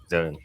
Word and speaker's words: Xone: Xone. Because we're not sure how to pronounce it. That's Because it's the like Ozone, but Yeah. with an X.